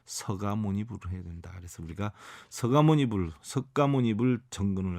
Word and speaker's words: 서가모니불: 그래서 우리가 서가모니불, 석가모니불 정근을 할 때 어떤 가수들도 보면은 석가모니불, 석가모니불 이렇게 하는데 너무 잘못됐죠. 서가모니불이 맞습니다. 서가모니불. 여러분들 혹시나라도 뭐 발음 정확하게 한다고 석가모니불 이거는 사실 아닙니다. 서가모니불이 옳습니다.